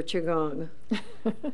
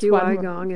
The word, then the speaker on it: qigong: It's QI, which is energy. That's what it means. And gong. Gong, and it's QI gong, and it's pronounced gong, qigong.